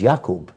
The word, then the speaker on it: Yaqub: We put a J sound for the Y's. That's English. His name was not Jacob. It was Yaqub.